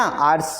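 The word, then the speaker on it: hours: 1 घंटे 2 घंटे 3 घंटे है ना, आर्स जो होते हैं घंटे होते हैं, तो यहाँ एच आर्स में भी कैसा है?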